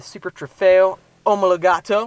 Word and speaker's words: Super Trofeo Omologato: The ultimate Huracan, the STO, the Super Trofeo Omologato. That's how you pronounce it, right? Yeah, that's the Italian way.